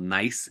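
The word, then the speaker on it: gneiss: be called n or nice um you don't pronounce the G so it's called nice and it is a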